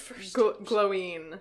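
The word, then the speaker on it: Glóin: 8 people voted for 8 people pronounce it as the first option of glowing. Gloin. Glowing. I will die on this hill. I prefer glowing as well because it's so much easier to say.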